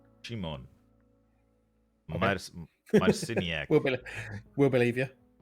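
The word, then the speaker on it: Szymon: um 41 year old I looked up how to say his name it's it's basically sheep Shimon Shimon my medicine we'll believe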